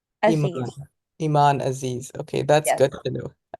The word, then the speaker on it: Aziz: people's pronunciation so please tell us how you pronounce your own name Iman aiz Iman Aziz okay that's good to know so Iman tell